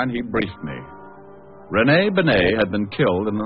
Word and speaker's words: Bennet: It's pronounced Benet, not Benny.